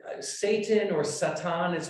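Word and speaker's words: שטן: we're going to begin with say satan or satan is how you pronounce this in in hebrew and we can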